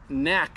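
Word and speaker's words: Knaak: We've got Greg Knack, I believe is how you pronounce it, with K-N-A-A-K.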